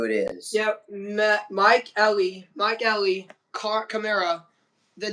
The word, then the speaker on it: Kamara: Is that Kamara? Yeah, my bad. Just pronounce it. It's Kamara.